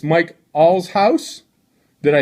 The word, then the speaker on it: Allshouse: say your last name right Mike it's Mike all's house did I say it correctly that's right alright